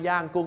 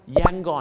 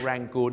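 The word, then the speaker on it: Yangon: ปดอ เนี่ย นะ ครับ แต่ แน่ นอน ครับ ย่าง กุ้ง ก็ เป็น เมือง หลวง เก่า ของ เา เนี่ย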